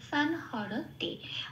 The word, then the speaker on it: সংহরতে: সেই জন্য সানকে আমরা বলবো সান। আচ্ছা, তারপরে হ যেমন আছে তেমন, র যেমন আছে তেমন, কোথাও কোনো হসন্ত নেই, পূর্ণরূপে এই দুটোকে উচ্চারণ করব হ র বলে। আর তেটাও যেমন আছে তেমন। তাহলে শব্দটা কি পেলাম? সান হর তে।